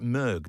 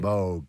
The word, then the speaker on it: Moog: is it how do you pronounce it's not moo you pronounce it mug don't you MOG MOG okay do you use moges yes like